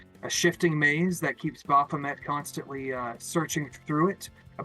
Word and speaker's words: Baphomet: I think I mispronounced it last week. What we are talking about is Baphomet.